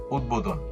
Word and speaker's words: উদ্বোধন: উত উপসর্গযোগে গঠিত শব্দের ত দ এর সঙ্গে, অর্থাৎ ত যখন দ হয়ে যায়, এর সঙ্গে যুক্ত বফলা অবিকৃত হয়ে উচ্চারণ হয়। যেমন উদ্বোধন, উদ্বাস্তু, উদ্বাহু, উদ্বেগ ইত্যাদি।